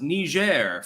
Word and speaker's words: Niger: an invasion does seem possible chance God it's pronounced Niger French for your information I think that they